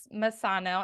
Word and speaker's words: Masango: guest today I want a Masano did I pronounce that again right yeah you got it at 1A Masano I love that name and he is and